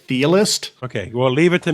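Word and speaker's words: Chthe'ilist: I think it's Thealist, like Cthulhu, It's like Okay. CTH, like Cthulhu. So Yeah. the C is sort of silent, so it'd be like Thealist.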